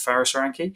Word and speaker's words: Faris Aranki: My name is Faris Aranki, yes. I also respond to Faris Aranki, but Faris is the Arabic pronunciation.